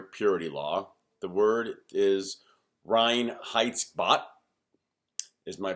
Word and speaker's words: Reinheitsgebot: The word is Reinheitsgebot, is my pronunciation.